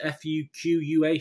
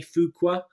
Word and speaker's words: Fuqua: I don't know how you pronounce this. F-U-Q-U-A, Fuqua.